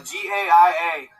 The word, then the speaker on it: Gaia: Uh G A I A. It's pronounced Gaia.